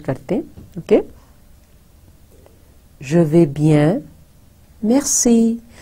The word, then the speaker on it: bien: ho gaya, s rather, bien, bien mein bhi n, jaise hum bon, bonjour, to jo n hai, jaise urdu mein noon gunna hota hai, nasal sound, wo naak mein reh jati hai, hum pura usko pronounce nahi karenge.